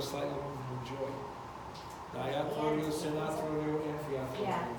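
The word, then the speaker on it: amphiarthrodial: Amphiatrodial is slightly movable. Can you break that down in like a syllable, keep one at a time? And Amphiatrodial. atrodial, amphiatrodial.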